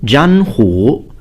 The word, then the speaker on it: Zhanhu: class name is pronounced Zhanhu. So there are two third tones, two third pitches, but of course the first one is pronounced as a second pitch.